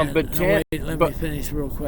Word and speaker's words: Bataan: Well, this Bataan Death March, or Bataan, which is the proper pronunciation.